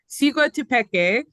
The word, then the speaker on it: Siguatepeque: It is pronounced Siguatepeque in the highlands of Honduras.